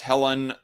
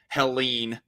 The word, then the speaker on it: Helene: for the side note, I thought it was pronounced Helen or Helen for a while now, despite there being like an extra E at the end of it. But I guess it's pronounced Helene is how the hurricane is being, is what the hurricane is being called.